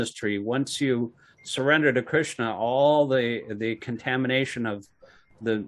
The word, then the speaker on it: Krishna: The S, when there's a dot under the S or there's a slash over the S, it's pronounced SH. Yeah. Like Krishna. Yeah. Krishna.